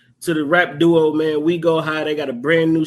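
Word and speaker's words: Oui Go High: man we go high it's spelled like the French we o UI go high go check them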